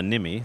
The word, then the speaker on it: Nymi: of research and development the product is called the nimi The Wristband and that's spelled n ymi and you can go